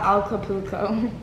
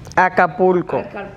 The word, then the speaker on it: Acapulco: so here this is all of us at al capuco oh i don't like saying the name so i'm obviously saying it wrong acapulco acapulco all of us at dq because we